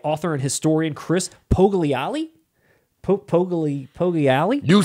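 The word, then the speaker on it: Poggiali: Pogliali? You said it right, man. Pogliali.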